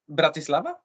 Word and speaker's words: Bratislava: laava it's easier for me yeah yeah it's Bratislava Braava braia bavia bavia perhaps yes because brl is the the also German pronunciation of this of the city used to